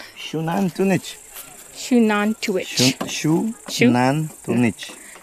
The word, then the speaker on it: Xunantunich: How How do you pronounce this again? Shunan tunich.